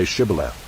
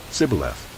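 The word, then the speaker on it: shibboleth: they said to him then say shibala and he said sibyleth for he could not pronounce it right then they seized him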